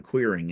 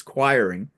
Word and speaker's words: Quiring: I had to ask him how to say it because I was calling him Queering, and it's not, it's Quiring Yeah.